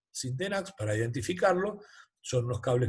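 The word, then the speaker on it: Sintenax: dos aislación es más se le llama tipo 100 tenax es una marca muy común pero bueno se dice tipo sin de nash para identificarlo son los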